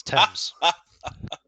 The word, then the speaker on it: Thames: It's English, so it doesn't have to make phonetic sense to the way it's spelt. So yeah, it's Thames.